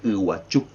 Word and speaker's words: Iguazú: original debería hacerse H porque ellos dicen iguachu no dicen como nosotros sin embargo yo por una razón pongo la z y el acento en la u por qué porque yo soy criollo yo soy mezcla entonces respeto la y del guaraní y a la misma vez dejo la parte española que es la que